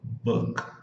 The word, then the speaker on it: book: É assim, ó, book, e o K você mata o som do K.